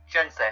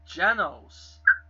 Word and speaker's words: Genos: Yeah, he was doing that when he was battling Jensei. I keep saying his name wrong. Genos.